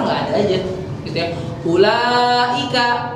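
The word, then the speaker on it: أولئك: Ulaika ya, bacanya kan nggak ula tapi ulaika gitu ya.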